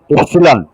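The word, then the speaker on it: epsilon: তাহলে এডিএস কে আমরা এভাবে লিখতে পারি, এটাকে এক্সটেনশন কোএফিসিয়েন্ট বলে, ই ইপসিলন, এটার উচ্চারণ হলো ইপসিলন, ইপসিলন, ইপ, আমরা যে ইপ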